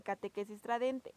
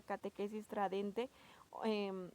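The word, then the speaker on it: Catechesi Tradendae: El Papa Juan Pablo II en esta exhortación que se llama Catequesis Tradente, se pronuncia con T, pero se escribe con D.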